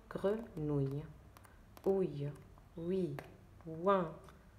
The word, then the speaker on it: grenouille: O-U-I, deux L, E, on le prononce ouille. D'accord? Donc, grenouille.